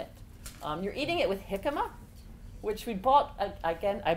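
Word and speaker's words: jícama: but you're mad mex jicama is it actually the Spanish word because the J pronounces in HS is Spanish so your question was why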